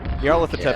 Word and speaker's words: Nyarlathotep: Nyarlathotep Yeah, is my go-to pronunciation for that.